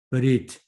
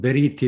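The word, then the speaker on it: בְּרִית: 예를 들어서 브리트 또는 베리트 이렇게 읽는다고 그랬습니다. 음역을 하겠습니다. 여기다 쉐바, 이건 이렇게 기입한다고 그랬습니다. 에도 아니고요. 의도 아니고 어에 해당되는 그런 발음입니다.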